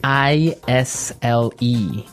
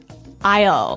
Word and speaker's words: aisle: i s l e Isle Isle it's a tricky word it sounds like the contraction of I will yeah but it's spelled so strangely right we don't pronounce the S the S is silent that's true Isle so